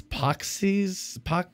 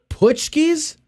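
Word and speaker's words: paczki: I don't know how to pronounce this. Poxies, Poxies, P-A-C-Z. What is it? Putschkies.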